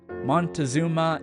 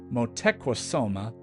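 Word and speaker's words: Moctezuma: said them for example monuma and Hernando Cortez were not their given names they were motosa and Aran Cortez also these words are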